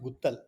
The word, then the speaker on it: Guttal: My Ah, last name is pronounced Guttal.